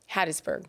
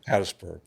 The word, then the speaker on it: Hattiesburg: Hattisburg. Hattisburg. Do you almost don't even say the I in Hadtis. You just say Hattisburg.